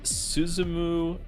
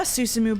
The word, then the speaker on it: Susumu: Its current leader is Suzumu Nishiawa.